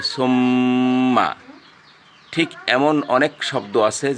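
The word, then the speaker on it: ثُمَّ: তারপরে আরেকটা শব্দ আছে সুম্মা। এখন কেউ যদি বলে সুম্মা, তো এই গুণনা হলো না, আপনার উচ্চারণ হতে হবে সুম্মা।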